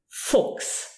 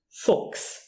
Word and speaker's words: Fuchs: When you have that CH appearing in the word and it is followed by an S, you pronounce it K. Fuchs. Fuchs.